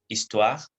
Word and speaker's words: histoire: Les consonnes H et la lettre H ne se prononce pas en français. Elle est complètement silencieuse. Par exemple, histoire, le H est muet, il n'est pas non plus aspiré.